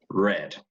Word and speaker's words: read: one is also pronounced read so that's the thing the spelling is the same but the pronunciation changes so this is this is pronounced exactly like the color red okay the promisee prácticamente